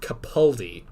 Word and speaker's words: Capaldi: of the lockdown so a lot of people sadly pronounce peter's name wrong it's pronounced capaldi okay i i guess i think i'm still gonna say capaldi i still feel like